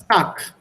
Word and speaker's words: Tag: So, if you have Bad, But genau. So that becomes Bat. And if you have here Tag. Tag, this becomes Tak.